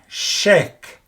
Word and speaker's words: chèque: And here the pronunciation is different because you have to open your mouth. Like in chèque, open it, as opposed to with the aigu accent.